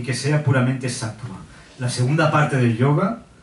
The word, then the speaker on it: sattva: Eso es una V. Ah, es sattva.